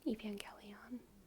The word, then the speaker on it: Evangelion: I have seen it I think soft G because you angelical I know that's what I think but my my my mouth and my brain wants to say gion okay but everyone agrees jelly on my mouth and brain are just wrong when you were a kid no it's g no no I think think you're saying it right I am saying it right Evangelion oh my God so